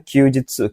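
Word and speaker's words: 休日: Kalau yang nomor satu ini bacanya Kyujitsu.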